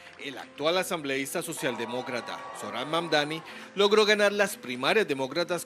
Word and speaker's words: Mamdani: Nadie sabe pronunciar mi apellido, es Mamdani, pero a cada rato me dicen Mumdari, Mumnari.